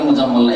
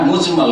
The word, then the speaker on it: মুজমাল: মুফাসসাল আর ঈমানে মুজমাল ভুল করে অনেক উচ্চারণ করে মুজাম্মলরা একই রকম করে উচ্চারণ করে কিন্তু আসলে মুজাম্মল না হ্যাঁ মুজমাল কারণ এটা হচ্ছে বাবে ইফাল থেকে আজমাল ইজমাল থেকে ইজমাল থেকে মুজমাল ইসমফুল আর এটা হচ্ছে